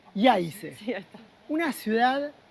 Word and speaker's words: Jajce: Llegamos a esta ciudad llamada Jajce. Jajce. La J se pronuncia como una Y, me parece. Jajce.